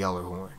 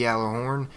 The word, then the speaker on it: Gjallarhorn: Supposedly the G is not even pronounced in this word and it is clearly out there.